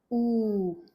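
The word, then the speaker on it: ऊ: Ooh. Ooh. Usually to write down this one also in English letters we use u. We use the letter u. The sound is long ooh.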